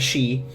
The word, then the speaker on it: Seedhe: We have on our sheet Maedra Seedhe. It's pronounced she.